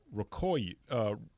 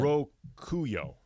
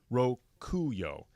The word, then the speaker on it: Rokuyo: is part of it's in Japanese culture called Rokoi. Day of Luck or something like that. Rokuyo. Apologies for mispronouncing. Rokuyo.